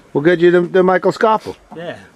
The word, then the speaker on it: Schoffel: We'll get you the Michael Schoffel. Yeah. Not Schoffel, Schoffel. Schoffel. There's many different ways to pronounce it.